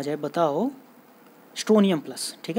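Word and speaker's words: Strontium: तो higher valency यानी स्ट्रोंटियम plus, T silent होता है वैसे, बोल सकते हैं हम लोग, स्ट्रोंटियम या फिर स्ट्रोनियम +2 ऐड किया जाता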